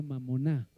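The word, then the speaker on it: μαμωνᾶ: Bueno, es una palabra en griego, en realidad se pronuncia mamoná y mamoná era el Dios de las de las riquezas, algo en que se podía confiar.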